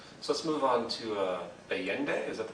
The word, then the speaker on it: Allende: So let's move on to Allende, is that the pronunciation? Mm-hmm. Yeah. Well, Allende again, president of Chile, and Allende went up against a very powerful U.S.